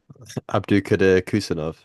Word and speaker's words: Abdukodir Khusanov: I presume you know how to pronounce it, so go ahead. Abdukodir Khusanov.